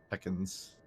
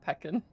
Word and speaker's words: pecan: Here to get the scallops and the pecans. Am I saying it right yet? No. Pecan. Pecans is like Ekans from Pokemon, but if it was a food. Definitely not peckin'. It's very much not.